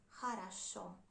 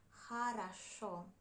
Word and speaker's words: хорошо: you pronounce it like хорошо. This happens because when letter O isn't stressed, we pronounce it like A. And when it is stressed, we pronounce it like O. Хорошо, хорошо.